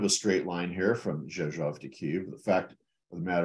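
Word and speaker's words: Rzeszów: And she goes, it's Zhezhov, just like it's spelled.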